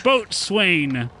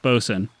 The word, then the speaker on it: boatswain: to Sail On A Boat I'm the ship's boat Swain and then as he says that um Piper pocket says it's pronounced boson he goes no no I'm the Ship boatswain